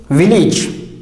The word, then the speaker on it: village: The next word is village. The spelling of this word is VILLAGE. It is wrongly pronounced as village by the speakers, but it should be pronounced as village, village, li and not lay.